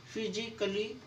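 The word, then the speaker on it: physically: Double L वाई आए, जब भी ए के बाद डबल एल वाई आएगा तो आपका ए साइलेंट होगा। फिजिकली, लॉजिकली, म्यूजिकली, ए है और ए के बाद डबल एल वाई आया हुआ है तो ए साइलेंट।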